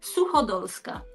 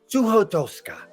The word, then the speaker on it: Suchodolska: The pronunciation is Suhoa. Su one more time. Okay. SuKa. Suhoa.